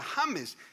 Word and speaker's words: James: después en español james ahora james es un nombre en español legítimo y se pronuncia james si tú creías que